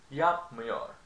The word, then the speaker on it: yapmıyor: Now, when it's negative, however, you conjugate, you stress the syllable that is before the negative suffix. So, yapmıyor, yapmıyorum, yapmıyorsun, yapmıyor, yapmıyoruz, yapmıyorsunuz, yapmıyor, or yapmıyorlar. Okay? So, when something is in negative, you stress the syllable that is before the negative indicator.